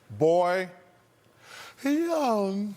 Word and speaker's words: Bojan: Boy, young.